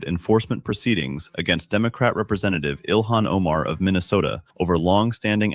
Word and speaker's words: Ilhan: A major development this morning related to the long-standing immigration fraud allegations involving Congresswoman Elon Omar. News or Did she say Elon? It's Ilhan.